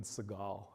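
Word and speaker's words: Seagal: going to insult any Steven seal friends or Sagal Steven Sagal rather that's how I should propably pronounce it that's how it works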